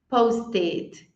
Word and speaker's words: posted: E aí, se terminar com T ou D, aí eu vou pronunciar ed. Não é nem um E, mas é o que seria o mais parecidinho. Então, eu falo ed. Post, posted. Need, needed. São os únicos casos que